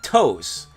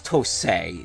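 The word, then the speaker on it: TOSE: was contracted out to toast although you is that how you pronounce oh i think i remember hearing you pronounce to say not toes like toes like not not your tippy toes jose excuse me about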